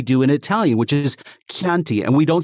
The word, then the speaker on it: Chianti: And I know that Anglophones can say it because we don't say Chianti anymore for Chianti, right? It's CHI, but we say it as we do in Italian, which is Chianti.